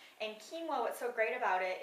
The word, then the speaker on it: quinoa: take it to the grocery store but it's pronounced kinoa and kinoa what's so great about it it is a